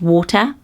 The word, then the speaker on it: Walter: which I love and actually originally this name in medieval times would have been pronounced water so for me it's